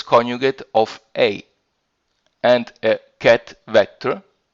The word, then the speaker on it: ket: notation of this sort here and which is pronounced ket sy is common notation for vectors in quantum